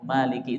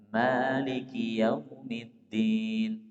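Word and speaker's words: مالك: Pada surah Al-Fatihah Maliki itu panjang. Maliki yaumiddin.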